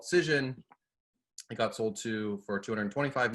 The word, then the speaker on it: Cision: Is that how you pronounce it? Cision.